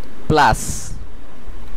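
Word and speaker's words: place: এটার উচ্চারণ হবে অপোজে এরপরের শব্দটিতে একই রুল ফলো করা হবে শেষের সাইলেন্ট থাকবে প্লাস প্লাস প্লাস যার অর্থ জায়গা আপনারা বাংলাতেও দেখতে পাচ্ছেন এটির উচ্চারণ হবে প্লাস এর পরের শব্দটিতে আমরা এন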